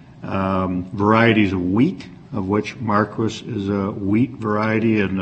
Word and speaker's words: Marquis: my office to advise us that it is pronounced Marquis because right. the areas there are various varieties of wheat, of which Marquis is a wheat variety, and apparently that is